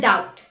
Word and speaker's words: doubt: The B is often silent when it comes after an M or before a T.